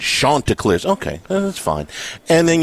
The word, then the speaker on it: Chanticleers: It's Chanticleers.